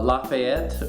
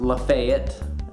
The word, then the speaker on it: Lafayette: like it should be pronounced Gaston is actually pronounced Gaston and the street uh Lafayette which is after General Lafayette is actually pronounced Lafayette and those are just two examples of the